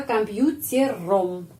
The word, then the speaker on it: компьютером: Jadi я работаю за компьютером. Rom kita menulis rom tapi bacanya am. Kenapa? Komputerem karena penekanannya pada huruf U. Karena itu huruf O dibacanya A.